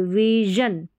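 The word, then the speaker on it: vision: डिजन डिसीजन यह है विन नहीं बोलेंगे विजन क्या है विजन विजन शॉर्ट साउंड है आई का विजन विजन फिर यहां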